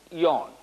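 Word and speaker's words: Jan: pound 180 pound yayan that's obviously pronounced yarn but uh you're right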